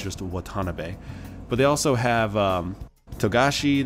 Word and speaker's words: Watanabe: the way it's pronounced Watanabe not Watanabe in Japan you don't emphasize any parts of a name it's all the same level as you say it so it's just a Watanabe but they also have